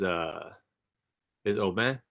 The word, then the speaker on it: Aubin: Um, so yeah, as Joel said, I'm Aubin. Yes, the proper pronunciation is Aubin, but like any good American, we've bastardized our name.